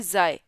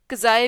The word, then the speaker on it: xi: और इस लेटर की अगर हम प्रोनाउंसिएशन की बात करें तो इसे हम पढ़ते हैं ज़ाय। और यहाँ पर इसकी मैं स्पेलिंग भी लिख रही हूँ, ZIGH, या XI भी इसको लिख सकते हैं। तो इसे हम ज़ाय भी पढ़ते हैं, कज़ाय भी पढ़ते हैं।